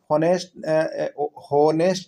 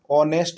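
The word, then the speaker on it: honest: ठीक है, तो ध्वनि के आधार पर उसका उच्चारण जानते हैं क्या होता है ना, होनेस्ट नहीं बुलाता है, ऑनेस्ट बुलाता है। क्या बुलाता है, ऑनेस्ट, ओ।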